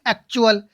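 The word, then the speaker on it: actual: कुछ वर्ड, यानी कि कुछ और वर्ड्सों में टी का उच्चारण होता है, जैसे कि एक्चुअल। एक्चुअल नहीं बोलेंगे इसको, क्या नहीं बोलेंगे? एक्चुअल नहीं बोलेंगे, क्या बोलेंगे? एक्चुअल, है ना, एक्चुअल।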